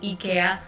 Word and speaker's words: IKEA: oh sorry sorry sorry yeah ikea ikea ikea is the swedish pronunciation just you know for